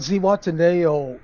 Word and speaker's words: Zihuatanejo: from today wataneo I think that's how you pronounce it tell us about Zee wataneo Mexico okay I did say it right searching for zaywada nail Mexico is a Charming coastal town in the